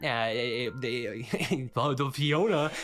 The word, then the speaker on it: F10N4: And the initial mimic is transformed into this robot named F10N4, spelled like that, the Fiona.